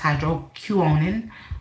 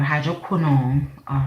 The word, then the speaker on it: hydroquinone: in e an ass hydro Q owning or hydroquinone whatever fits your tongue so you can research